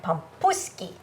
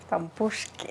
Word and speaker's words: pampushki: recipes with us for borch and pompuski. Pampushki pampushki. It's Ukrainian.